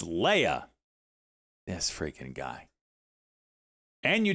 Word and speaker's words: Leia: It's not Leah, it's Leia.